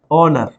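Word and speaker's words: honour: ध्यान से समझना है जैसे ये लिखा है ओनर ये क्या लिखा है ओनर यहां पे भी एच जो है वो साइलेंट है एच क्या है साइलेंट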